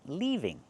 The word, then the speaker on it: leaving: Leaving use the long e sound like green beans, leaving.